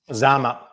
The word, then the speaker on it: Zama: Is it how you say it, Zama? Zama, yes.